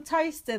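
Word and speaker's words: Towcester: ] what's that place near us that gets pronounced wrong all the time no sir yeah it's a high school toaster that spelt like Tao Westar yeah come to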